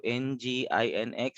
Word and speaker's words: Nginx: Kung sa pag-pronounce ang Nginx, so Nginx.